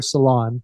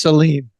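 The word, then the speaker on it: Celine: stars, maybe, Seline Dion, how do you say her name? Seline. She allowed me to call her Salon, but yes, she prefers Seline.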